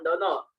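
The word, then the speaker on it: 殿: Tulisannya tono, diucapkan dono.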